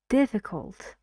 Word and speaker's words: difficult: it's a difficult Edge difficult difficult difficult so three syllables and diff is dressed in this word listen and repeat the